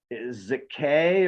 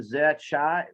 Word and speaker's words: Zakkai: Zakkai or Zakkai, like, you're being an ass, bro. Yeah. Zakkai or Zakkai, it's all good. There's 2 ways to pronounce this. 2. It's tomato or tomato.